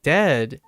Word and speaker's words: dead: sounds like bird and dead is said it's said like bed and not bead and goodness sake don't